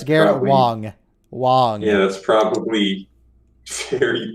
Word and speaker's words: Wang: It's Garrett probably, Wong. Wong. Yeah, that's probably very correct. Big gun. That's how it's spelled. That's not how it's pronounced. It's Wong.